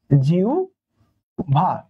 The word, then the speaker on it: জিহ্বা: একটা, যদি বলি জিহ্বা, তাহলে দেখেন তো হয় ব আছে, তার পূর্বে কি আছে, রস্বই আছে, তার মানে কি অ আ নাই, তাহলে কি এটা উভ হবে, তাহলে এটার উচ্চারণ হবে জিহ্বা।